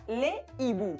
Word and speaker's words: hibou: Pues esa S no se pronuncia porque esa H impide la liaison, así que sería le hibou.